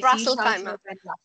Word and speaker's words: Ras Al Khaimah: Ras Al Khaimah.